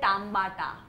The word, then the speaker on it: tambata: Dish बना रहे हो, let me teach you how to say tomato in Kohli language. Tomato in Kohli language. The spelling is the same. But tomater. You know how to say it? नहीं. You say tambata.